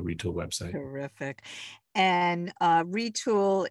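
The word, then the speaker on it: Retül: website terrific and uh retool is spelled r-e-t-u-l it's not o l correct yes retool it does have an umlaut on there um it actually did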